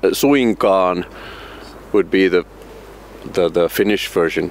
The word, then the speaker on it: suinkaan: Which in Finnish it's pronounced. It exists, but it's not. Suinkaan would be the Finnish version. Suinkaan.